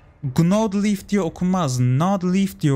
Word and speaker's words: Gnawed Leaf: Gnawed Leaf diye okuyacağız.